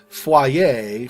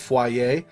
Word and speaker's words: foyer: Sometimes we don't pronounce foreign words right, like foyer for French, right? Foyer. There's no fua sound in English, so we wouldn't normally say foyer. We pronounce it the English language way, based on the letters we see, because there's not a fua sound. So we would say foyer in that case.